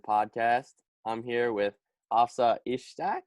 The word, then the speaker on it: Ishtiaq: I'm here with Hafsa Ishtiaq, right? Is that how you Ishtiaq. pronounce it?